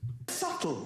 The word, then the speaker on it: subtle: a good point subtle would anybody object if it was spelled SLE not a single person would but there's a be in the middle going sh just ignore me just yeah the bee is like yeah why am I here mate can I not